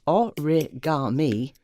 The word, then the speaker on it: origami: made him irritatingly niggly origami pronounced a rigged army is an art form